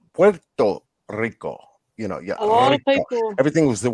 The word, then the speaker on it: Puerto Rico: you know puerto rico everybody says porto rico puerto rico you know everything was